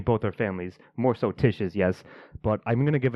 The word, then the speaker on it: Tish: I thought you said Trish. Well, if I did, I meant to say Tish, and I believe I've been saying it correctly this whole time.